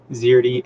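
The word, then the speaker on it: Szerdy: then you got nathan zierdy uh nathan spelled the normal way zirty s-z-e-r-d-y dot com he's got some really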